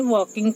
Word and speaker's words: walking: VIKAS Vikas and his father FATHER father were WRE were walking WALKING L silent रखना है। वॉकिंग पढ़ना है।